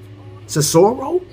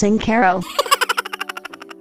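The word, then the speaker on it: Cincoro: uh have you guys ever heard of um cesaro it's a tequila it's pronounced sincero this is the most expensive tequila that you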